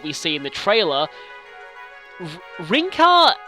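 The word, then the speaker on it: Rinkah: see in the trailer rinka is basically the pronunciation is the same but they've added an H to the spelling of it and suzuk Kaz is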